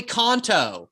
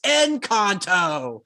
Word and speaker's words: Encanto: fiona my two-year-old goes yeah play konto and goes it's enconto she's always correcting the